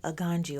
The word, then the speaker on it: Aganju: a n j u some people pronounce it but me Yaya being a black Gucci American I'm going to say a ganji okay so if you